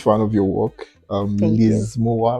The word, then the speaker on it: Mowah: So um I'm I'm a huge fan of your work um Moa, right? Yes. Yeah. I just want to confirm the pronunciation.